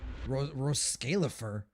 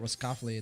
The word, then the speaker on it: Roscalifer: Roscalifer? Is that how you actually pronounce it? I thought it was completely different. My bad. I've been pronouncing it Roscoffly this entire time.